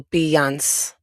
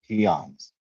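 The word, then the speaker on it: Pillán: So the double L is pronounced like a Y. So Pans. Pans. Okay. Pance.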